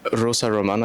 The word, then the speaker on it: Rosa Román: Uh the climate academy is in ISPRA today at the joint research center where we're going to be interviewing um Rosa Roman. I hope I'm pronouncing that correctly.